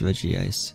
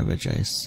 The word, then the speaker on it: Regice: 16s higher than this regie ice re yeah reg ice however you want pronounce it both are correct but we have to